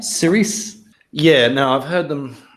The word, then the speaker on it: Cirice: All right, Cerise. Yeah, no, I've heard them. I've heard one of the ghouls, I think it was, discuss the pronunciation of this. It's intended to be pronounced Cerise, and that's how Colbert pronounces it when he's